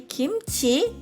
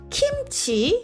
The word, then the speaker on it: 김치: E peço que você pronuncie kimchi corretamente. Não kimchi ou kimuchi. Não. Vamos fazer dessa nossa missão de hoje pronunciá-lo corretamente. Kimchi.